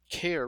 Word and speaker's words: char: have a data type we call a care which is short for character RF also heard it pronounced char but and the reason